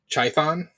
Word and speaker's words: Chthon: um it's I always I can like never remember how to pronounce it but it's uh chthon I think might be the right way to say it uh basically he's the